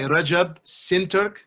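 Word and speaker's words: Recep Şentürk: Clary Moo Jed Alessi okay and it's by Rajab sin Turk that's spelled re CEP s en tu RK the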